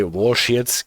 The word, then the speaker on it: Walschaerts: Some say Walschearts gear for it. Walschaerts might be the close to, at least the closest that I can get to the proper pronunciation of this.